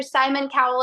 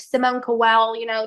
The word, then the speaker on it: Simon Cowell: me, I'm looking for Simon Cowell, and mispronouncing his name like Simone Cowell, just like.